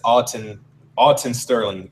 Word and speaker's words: Alton Sterling: He said, he wanted to say, for the record, it's Alton Sterling. You know, I apologize to his family if I was mispronouncing his name.